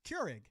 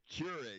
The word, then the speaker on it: Keurig: Cure, like you cure a disease. Keurig. Keurig.